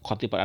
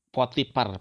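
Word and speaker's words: Potiphar: Kita dalam kitab-kitab tafsir membacanya kitfir, tapi mereka mengatakan itu kotipar. Ada yang menyebut potipar pakai pak apa pakai f itu ya.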